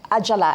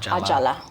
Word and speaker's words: Ajala: please forgive me for mispronouncing your name. It's okay and please correct me. It's Aala Ajala.